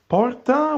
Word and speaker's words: porta: Porta would be door in English, and it's almost good. I mean, it's nice. Of course, you in English have the R and not R, a bit more, rough pronunciation of the R, but it's okay. I mean, it's also understandable by an Italian, I guess.